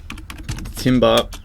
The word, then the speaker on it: timbre: Now, timbre, pronounced timbre, is a French word that means texture of the sound or quality of the sound.